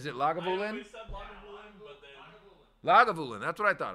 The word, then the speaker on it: Lagavulin: that's what I thought I thought it was lagavulin but I wasn't going to emphasize my emphasis on the wrong cabble and make it sound like it was the right thing so um the uh